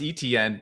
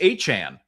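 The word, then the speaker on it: Etienne: Everybody called him Travis ETN. It's Travis Achan, which is, hey, now we know a far cry from what people had.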